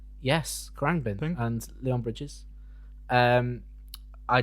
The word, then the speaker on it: Khruangbin: Khruangbin. Yes, Khruangbin Thing.